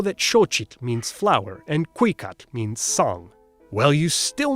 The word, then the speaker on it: cuicatl: Oh, and they stressed the second to last syllable, Cuicatl, Weyi Tlatoani.